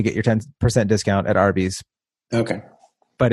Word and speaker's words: Arby's: But roast beef, literally, Arby's, their name is R, like phonetically, R and B, Arby's, roast beef.